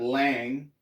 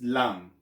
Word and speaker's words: lang: it's taglish okay again it's not lang it's lang okay lang remember ah